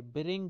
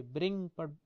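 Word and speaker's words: bring: अमूमन इसे ग प्रोनाउंस करते हैं लोग, मगर ये ङ साउंड है, ग नहीं है, ब्रिंग नहीं है, ब्रिंग पढ़ा जाता है।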